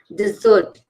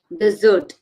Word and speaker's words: dessert: one my favorite okay dessert dessert and desert desert and dessert two difference here we are stressing on the double s dessert which you have to pronounce it double Zed okay so dessert is like my favorite